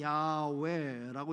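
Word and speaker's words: יהוה: 히브리 말로는 야훼라고 이렇게 발음하는데, 이 하나님의 이름의 뜻, 여호와라는 이름의 뜻은 스스로 있는 자, 스스로 있는 자라고 하는 아주 중요한 의미가 있죠.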